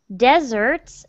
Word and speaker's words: desert: mountains glaciers deserts and with this word the stress is on the first syllable desert okay if you put the stress on the second syllable dessert it means like cakes and cookies and things like that it's spelled with two s's so you want to say desert deserts that's good Plains